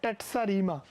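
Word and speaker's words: terza rima: number third यानी कि यह स्पेलिंग से टर्ज दिख रहा है लेकिन यह है टेटस रीमा क्या बोलते हैं इसको टेटस रीमा अब टेटस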